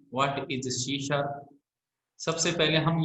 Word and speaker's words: C#: इस लैंग्वेज को सी sharp न लिख कर क्या लिखा जाता है, सी हैश लिखा जाता है, लेकिन इसको बोला कैसे जाता है, प्रोनाउंस्ड किया जाता है इसको सी शार्प, है ना।